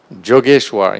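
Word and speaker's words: Yogeshwar: Often when I would come to see him, he'd look at me and say, oh, Jogeshwar, pronounce the Y like a J, and being, oh, Jogeshwar, you're here?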